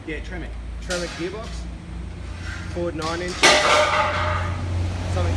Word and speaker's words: Tremec: Is it Tremec? Yeah, Tremec.